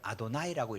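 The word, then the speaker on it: אדני: 말에는 똑같은 말로 들려요 여호와를 아도나이라고 읽습니다 야훼라는 말인데 야훼라는 말을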